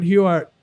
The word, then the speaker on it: Huart: oh we're here with uh Mr Warren huart who you did I pronounce it right you did yeah okay I